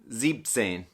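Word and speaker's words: siebzehn: if you notice 17 though the number seven is zeben but we said zebtsen so for seven when you go to say 17 you were gonna i guess you could say chop off an en so instead of zebin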